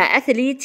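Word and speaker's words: athlete: بلاير بلاي بلاير اما اثليت يعني رياضي اثليت والتي اتش هنا ث واطلع لساني والاي اللي بعد الال بقولها لونج عشان بعدها تي ساكن وبعدين الماجيك اي الاي السحريه اثليت اثليت اثليت الانسان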